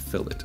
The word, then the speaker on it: fillet: term but uh in cad world it is pronounced fillet so same thing as the chamfer i'm going